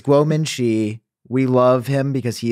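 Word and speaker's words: Kuo Ming-chi: and I look, and Minchi Quo tweeted. Here, this is the image. This is real. This is Guo Minchi. You also said his name wrong, dude. It's Guo Minchi.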